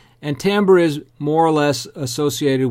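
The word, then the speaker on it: timbre: characteristic it's spelled ti mbb re but it's pronounced Tambor is usually the way that I hear that pronounced and Tambor is more or less associated with what you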